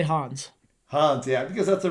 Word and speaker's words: Hans: I say Hans.